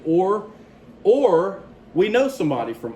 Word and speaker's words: Ur: When we talk about those early cities, note one interesting thing is this place here, which you probably pronounce it's actually Or.